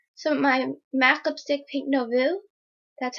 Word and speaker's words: Pink Nouveau: I put on some of my MAC lipstick, Pink Nouveau. That's how you pronounce it.